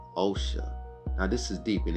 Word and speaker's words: Osha: Now I said her name wrong. It's O'Shea. Osha, I'm sorry. I was saying O'Shea. Osha.